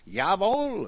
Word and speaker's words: Jawohl: But for them, they would spell even that with a J because you say that like a Y in German, right? Jawohl, it's spelled with a J.